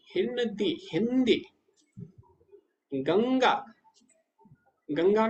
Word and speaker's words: गंगा: कई लोग बोलते हैं गनगा, गनगा नहीं है, गंगा है, अंग हो रहा है ना।